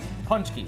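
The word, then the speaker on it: pączki: Paczki. Paczki. I can do like that. a punch. Like a punch and skiing at the same time.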